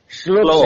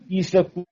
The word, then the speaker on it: श्लोक: है वो शुद्ध है नहीं लोक नहीं सही सही है शलोक सही शलोक यही शुद्ध है लेकिन हम बो में गलती करते हैं श्लोक कहते हैं इसल कहते हैं अलग से जोड़ देते हैं तो इसको कहेंगे आदि